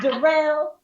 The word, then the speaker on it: Darrell: It's spelled like Daryl, but it's pronounced Darrell.